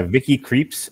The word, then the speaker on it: Vicky Krieps: from luxembourg so yeah vicky creeps i believe is how they pronounce it on critically acclaimed and